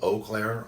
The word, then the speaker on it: Eau Claire: But we're going to start, and it's called Eau Claire, although it looks like Eau Claire. But it's Eau Claire. It's a French word that's in Wisconsin.